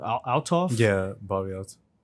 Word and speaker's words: Althoff: Althoff? Yeah, Bobbi Althoff. Althoff?